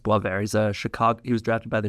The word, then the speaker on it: Boisvert: It's spelled Boivert, but pronounced Boisvert.